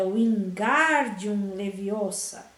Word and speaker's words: Wingardium Leviosa: Você está dizendo o feitiço errado, Harry ouviu Hermione corrigir aborrecida. É Wingardium Leviosa. O gar é bem pronunciado e longo.